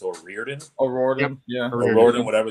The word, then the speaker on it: O'Riordan: look up how to pronounce her name. Dolores, I think it's O'Riordan.